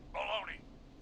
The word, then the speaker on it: bologna: Baloney. I said baloney. Baloney. I... Question. Why do we spell it like Bologna, but it's pronounced baloney?